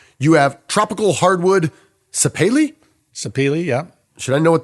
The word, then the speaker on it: sapeli: videographer had to explain to me how to pronounce one of the woods you have tropical hardwood sapeli sapeli yeah should I know what that is where